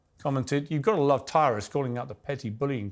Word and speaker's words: Tyrus: uh well Brad uh it's Tyrus for one not tyus it's not trus I